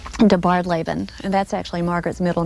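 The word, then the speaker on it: DeBardeleben: And it's pronounced? De Bardlaben, and that's actually Margaret's middle name.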